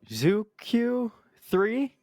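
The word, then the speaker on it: Zhuque-3: Yeah, so you're gonna have to forgive my pronunciation here a little bit. Zooq 3, I believe, is the more correct pronunciation there.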